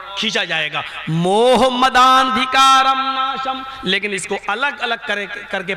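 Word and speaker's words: मोहमदान्धकारनाशं: मोह मद अंधिकारम, हिंदू भाई इस पर एतराज कर सकते हैं क्योंकि उच्चारण ये नहीं है, प्रोनाउंसिएशन ये नहीं है। प्रोनाउंसिएशन क्या है उसको मैं अब पढ़ रहा हूं। अज्ञान हेतु किरत मोह मदांधिकारम नाशम विधायम हितदोदयते विवेका। मोह मदांधिकारम नाशम, मोहम्मद के दा को आ से मिलाया जाएगा और खींचा जाएगा।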